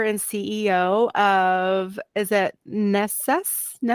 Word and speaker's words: Nesas: You are the founder and CEO of, is it Nesas? How do you say that? I want to pronounce it. Nesas Hemp is the right way of pronouncing. Yeah, with one S.